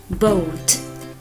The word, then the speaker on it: boat: Khi O và A đi cùng nhau, A rất xấu hổ nên bạn A rất xấu hổ nên bạn A im lặng, chỉ có bạn O lên tiếng thôi. Vì thế O và A đi cạnh với nhau thì chỉ được phát âm là O.